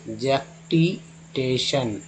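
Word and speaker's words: jactitation: Next जैक्टिटेशन, TIN को सन बोलते हैं, जैक्टिटेशन।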